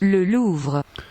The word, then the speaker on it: Louvre: The Louvre, that's how we say it in English. Yes, the Louvre. You probably know it. The Louvre. Yes, that is my English pronunciation of the place. I wonder how you pronounce it where you are from. In French, I think it's like the Louvre, right? The Louvre or Le Louvre.